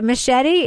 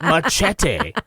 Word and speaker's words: machete: way, machete is also a word in English. Just FYI. Not machete. Machete.